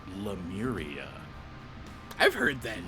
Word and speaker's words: Lemuria: the docket uh bill you said lemaria I like it it's uh lemuria you are i a